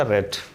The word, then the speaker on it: read: ये यहाँ READ लिखा हुआ है और यहाँ भी READ लिखा गया, लेकिन प्रोनाउंसिएशन इसका होगा रेड, क्योंकि रीड first form, रेड second form and third form रेड, so spelling will be same.